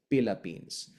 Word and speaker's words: Philippines: T is dentalized as a hybrid T and D. So forever is like forever, and Tagalog is Tagalog, and Philippines is Philippines.